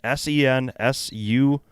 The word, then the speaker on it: Sensuous: It's SENSUOUS.